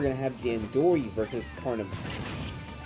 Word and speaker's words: Carnivine: Now we're going to have Dandori versus Carnivine. I just realized I've been pronouncing that amiibo wrong the whole time. Yeah, it's a Kaivine.